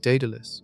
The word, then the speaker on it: Daedalus: Several decades ago, Project Daedalus, pronounced d e h d u l u s, approached the problem with fusion.